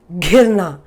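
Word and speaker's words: घिरना: Now if you say girna, girna is to fall, but this is ghirna.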